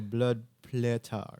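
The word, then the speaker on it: blodplättar: So how do I pronounce that? Blood. That's the sound. So blood platar.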